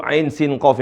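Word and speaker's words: عسق: 20 harakat totalnya ya untuk huruf Ain Sin qof ini kalau di total-total ada 20 intonasi panjang maka ini perhatikan sekali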